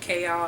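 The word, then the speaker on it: Chaol: And then we also have Kale, which, like, the audiobook pronounces it Kale, and that might be how you pronounce it, but I think that's kind of silly, so I'll call him Kale.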